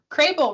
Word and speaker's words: Krehbiel: Krehbiel rhymes with table.